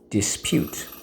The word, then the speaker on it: dispute: why you got it because in this case the silent e makes the u say you a lot of you